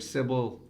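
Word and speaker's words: Cybele: of the cult of Sybil right or the Magna matter she was also known simple like civil faulty puzzles it's spelled cyb yeah but I'm right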